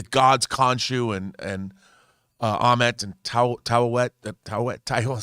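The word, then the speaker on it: Taweret: I mean, all these, the gods Khonshu and Amet and Tawet. I never pronounced it right. Towel's wet.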